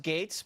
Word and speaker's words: Gaetz: skills congressman it's because your last name is kind of ridiculous it's GA etz it's pronounced gates but no one knows how to say that i'll tell them it's gates I wanted to rattle